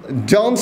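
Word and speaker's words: don't: Verb one, ইউ ডোন্ট, উচ্চারণ হবে ডন, এনের পরে টি হলে টি এর উচ্চারণ হবে না।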